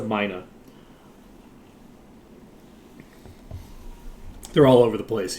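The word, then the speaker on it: myna: So it's M-Y-N-A. I'll just... That's how you spell it. Yeah. It's a Mina.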